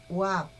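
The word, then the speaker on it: וו: Hay debate sobre la pronunciación de esta letra y algunos la llaman Wab, pero nosotros hemos elegido el sonido Bab como nuestro preferido.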